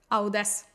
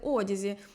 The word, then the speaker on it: Audeze: некомпетентність при вимовлянні бренду Я називала цю фірму як audes А мені сказали що так неправильно правильно буде казати одязі тож я виправилась Як